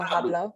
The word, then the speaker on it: hablo: Yo Hablo. hablo. The H Oh, is silent. no, yes, hablo.